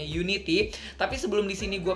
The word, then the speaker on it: UN1TY: group ini adalah Unity atau Unity ini tulisannya UN 1 sama TY gitu ya dibacanya Unity.